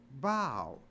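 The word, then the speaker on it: bough: u g h but it's not pronounced buff it's pronounced bow so even O a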